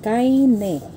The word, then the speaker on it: Kaine: Pronounced as kaine.